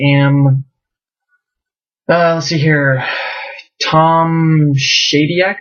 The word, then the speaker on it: Tom Shadyac: uh let's see here Tom shadec I think is how it's pronounced filmmaker guy who did